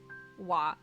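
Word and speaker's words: は: what um it but it is also pronounced ha it is well no yeah no no like like you can pronounce that as ha or wa depending on what you're using it for if it's for the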